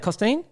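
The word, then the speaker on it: Costeen: Like, run me through meeting Costine. How do you say it? Costine? Yeah, Costine. Yeah, Costine. Run me through. That was really, really, really good pronunciation, to be honest.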